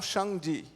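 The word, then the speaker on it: 上帝: called Shang be Elizabeth Wang Shang G there is how we pronounce it in Mandarin Chinese communist promotion notion Esmond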